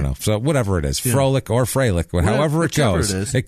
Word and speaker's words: Froelich: David Froelich, who is 22 years old. Is that Froelich? Yeah, you got it right there. That's oftentimes pronounced Freilich. Freilich, yeah, I've seen it Freilich, but then there's the guy who played for the Falcons.